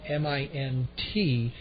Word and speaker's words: Mintken: His last name Mintken. I'm told the T is silent.